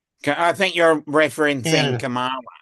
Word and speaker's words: Kamala: Kamala, not Camilla.